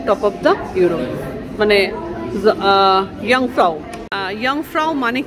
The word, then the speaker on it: Jungfrau: সেই আর কি, ইয়ংফ্রাউ, ইয়ংফ্রাউ কথাটা যেটা উচ্চ থেকে, মানে যে ইউ তো যেটা থাকবে না, মানে উচ্চারণ করার সময় যেটাকে বাদ দিয়ে, হ্যাঁ, ইউ ইউ ইউ